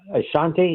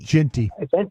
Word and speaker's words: Jeanty: Like y'all been talking about this Ashanti. Is that how you pronounce his name? Ashton Genty. Genty.